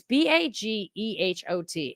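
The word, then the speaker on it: Bagehot: Hey, wait, can somebody please, Burning Beard, would you please look up how do you pronounce Bagot? It's Baghot.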